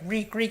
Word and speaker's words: Reek: his mind he's like Reek, it rhymes with squeak.